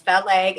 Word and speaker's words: Feleg: So, my name is Feleg, and it's pronounced like fell on your leg.